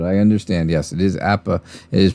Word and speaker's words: APBA: see apple golf i don't know i call apba i've called it that all my life because my dad called it that and well that's how it ends up being but i understand yes it is appa it is pronounced that way i saw it